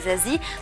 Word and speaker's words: Zazie: Ça se prononce pas, ça s'écoute, j'ai envie de dire, mais c'est Zazie.